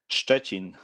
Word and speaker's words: Szczecin: How do you pronounce? Szczecin.